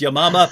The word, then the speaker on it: Yamama: the battle of i say yamama that she pronounced it correctly which is yamama but as soon as anyone says battle of